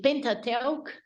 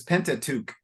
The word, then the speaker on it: Pentateuch: Moses authorship of the pentate oak that's hard it's in English it's pentateuch okay very good